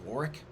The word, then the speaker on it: Warwick: Warwick it's spelled Warwick, but I think it's pronounced Warwick.